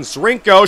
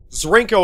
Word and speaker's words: Zrinko: Zrinko shoots and he scores! His name rhymes with Plinko, the longtime Price is Right favorite. Zrinko, of course, wins big at this, a game of skill.